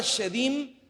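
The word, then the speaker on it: shedim: esa palabra Dios es es la palabra hebrea cheín se escribe s h e d y m chevín la palabra shedin se traduce como precisamente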